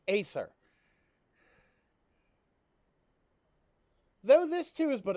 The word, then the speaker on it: aether: I hate the fact that they pronounce that ether. I'm like, no, when the A is in front of the E, it's aether.